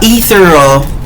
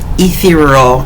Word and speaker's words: ethereal: And then you've got the musk 112 that's airy, light, musky, uh, etheral. Ethereal. Ethereal. Ethereal. Oh, that's how you say it.